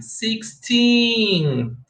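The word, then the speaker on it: sixteen: 16. Don't forget, make the emphasis at the last of the number or the word.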